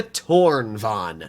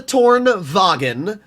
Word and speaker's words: Tornvagn: premium heavy take the torn Von not the torn vagin the torn Von there's a lot of people that try to pronounce the cron Von as cron vagen and it irritates me so so much there's so many people